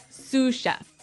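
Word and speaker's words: sous-chef: Sue chef. Suef. S o u s. So the s is silent because it's like a French word.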